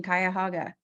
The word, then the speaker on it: Cuyahoga: And you did a really good job pronouncing Cuyahoga.